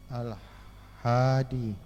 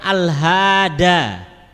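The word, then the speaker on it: الهادي: Alhadi. Alhadi. Perhatikan di sini ada enggak titiknya di sini? Enggak ada. Enggak ada kan? Tapi sebelumnya kasrah. Kasr maka bacanya alhadi bukan alhada.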